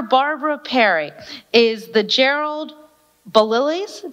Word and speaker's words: Baliles: Perry is the Gerald balilis did I get that right belials okay I say it rhymes with smiles there it goes okay